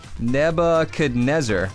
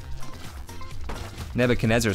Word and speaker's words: Nebuchadnezzar: someone didn't have a Christian Catholic education is pronounced nebe could never kanessa what did I not read it correctly Nebuchadnezzar yeah yeah the boo Chad Nizar Nebuchadnezzar sounds like a blimp like literally like a